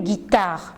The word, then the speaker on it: guitare: guitare, je dis une guitare. Pourquoi? Parce que j'ai intercalé un U entre G et I et comme ça, j'ai la possibilité de prononcer une guitare.